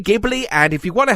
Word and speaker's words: Ghibli: My quest led me to a giant I had long ignored, Studio Ghibli. Or Studio Ghibli. Look, no one seems to agree on how to say this, so let's just say Ghibli, and if you want